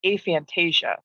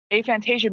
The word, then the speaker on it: aphantasia: Out of those people, 3 to 4%, much smaller percentage, will have aphantasia, which sounds like Fantasia, the movie with Mickey Mouse. With Mickey Mouse and the hippos dancing, but it's not that. Aphantasia means you can't picture anything in your head.